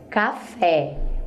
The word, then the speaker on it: café: última, como na palavra café, a gente acaba não pronunciando direito a última sílaba, como na palavra cadeira. O rá sai bem pequenininho. Observe, café, o fé sai forte e é a última.